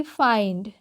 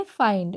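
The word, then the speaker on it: find: से पढ़ेंगे ठीक है जैसे कि फाइंड एफ आई एन डी को क्या पढ़ेंगे फाइंड ओके उसी तरीके से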